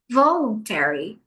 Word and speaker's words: voluntary: A sílaba mais forte é o v. Voluntary.